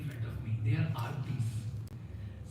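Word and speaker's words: आर्ति: They are artis. Some people keep the name Arati, but they pronounce Arti, Arti, Arti.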